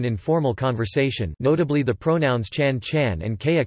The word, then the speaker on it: ฉัน: conversation, notably the pronouns chan chan and kaya kao, which are both pronounced with a high tone rather than the rising tone indicated by the script.